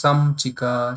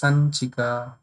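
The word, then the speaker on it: संचिका: people will pronounce samchika, some people will pronounce sanchika, some people pronounce, they will say sanchika. So that all you can now understand which one is correct. So it will go in nya sound. So that sound only you have to pronounce.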